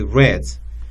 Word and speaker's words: read: We just change the pronunciation of the word. We say read.